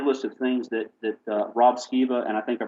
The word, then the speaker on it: Skiba: I learned a laundry list of things that Rob Skiba, and I think I pronounced his name correctly.